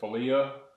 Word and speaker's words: philia: And we see that there's the love of, some people pronounce it different ways. I'm going to pronounce it philia.